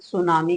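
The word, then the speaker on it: tsunami: है सुनामी सुनामी देखो सुनामी लिखा ऐसे जाता है इसमें टी क्या रहता है साइलेंट रहता है बोलते वक्त लेकिन लिखते वक्त हमें क्या है टी को लिखना पड़ेगा अब यहां देखें कि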